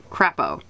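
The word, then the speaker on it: crapaud: sailor a Frenchman was general krepo pronounced crap oh crap oh is French for towed everything a Frenchman said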